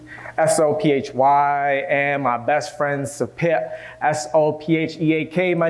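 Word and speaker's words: Sopheak: my ex, Saphi, S-O-P-H-Y, and my best friend, Sapit, S-O-P-H-E-A-K. My name is pronounced!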